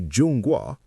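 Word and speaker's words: 中国: They say Jun Gua, Middle Kingdom.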